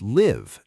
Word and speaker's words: live: It is, or the word live, to live somewhere, rhymes with give, but to live a life rhymes with five.